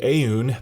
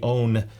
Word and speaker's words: Aune: that I've always called aun but after reading some comments and someone asked the company how do you pronounce it in English and they suggested own ow WN so um